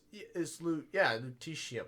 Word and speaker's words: lutetium: No, it's lutetium. No, it's like technetium. It's lutetium. Lutetium.